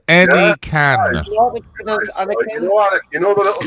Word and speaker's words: Anakin: The first one pronounced any can. An right? I give you permission to speak. It's pronounced any can.